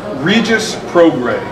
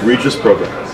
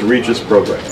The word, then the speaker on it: Regis Prograis: Tomorrow night, his fighter, Regis Prograis. Am I saying that? Is it Prograis? It's Regis, like the high school I went to. Like St. Regis. I've heard Regis Prograis. It's Regis Prograis.